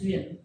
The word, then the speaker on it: duyên: And that word is duyên, and it's spelled D-U-Y-E-N. It's pronounced duyên.